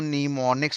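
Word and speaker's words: mnemonics: जहां पर एम नाम का शब्द मेरे पास क्या था? आपका साइलेंट था। और हम नीमोनिक्स ऐसा पढ़ते हैं और एम मेरे पास क्या माना गया था?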